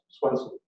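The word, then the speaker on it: Svendsen: spelling to s-w-e-n-s-e-n because in denmark where my grandfather came from for some reason the v is the w and the d is silent so that's swenson anyway hope you're looking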